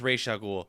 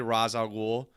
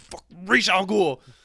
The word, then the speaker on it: Ra's al Ghul: pronounced Ra's al Ghul. When people say Ra's al Ghul, I know, you corrected Snyder the other day.